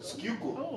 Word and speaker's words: Schuylkill: Schuylkill. That's what it's called. Oh, I'm not gonna spell that in front of a camera.